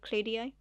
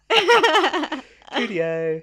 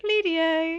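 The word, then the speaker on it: Cluedo: Well, I used to say Well, I used to pronounce the E just in the wrong place. Cluddio. I just Can we play Cluddio? Cludo. Cludo.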